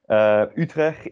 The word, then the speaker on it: Utrecht: Het Woord van de Week is Utrecht. So repeat after me. Utrecht. Wow, great job. So emphasis on the U. U, like an E with your lips around it. U. Utrecht is, of course, the